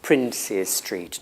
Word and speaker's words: Princes Street: that follow for example in Manchester there is a street called princes Street and that's usually pronounced princess street not princess streets that's because you have another word after princess privacy privacy I'm sure